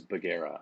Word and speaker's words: Bugera: of butchered but uh the last name is baguera so basically hyphenated take it take it make it two words bug and era and there you go there we go not